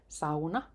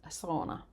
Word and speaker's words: sauna: I think everyone should finally know how to pronounce correctly. It's sauna, not sauna.